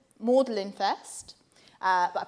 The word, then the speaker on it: Magdalen: started to call around colleges so i called mordelin first but i pronounced it magdalene and they corrected me immediately i was like